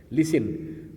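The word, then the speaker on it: listen: लिसन, लिसन में T silent है।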